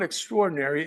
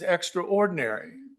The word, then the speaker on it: extraordinary: The title is pronounced the British way. So it's not extraordinary, it's extraordinary. That means I'm not ordinary.